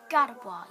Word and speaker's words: Gardevoir: How do I pronounce it? Ha! Gardevoir, yes.